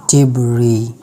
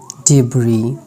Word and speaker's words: debris: सम Other random words having S letter silent like debris, debris, ठीक है, debris.